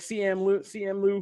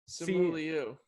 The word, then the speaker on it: Simu Liu: It's just Simu Liu, right? I said CM Lou, I think. Simu Liu.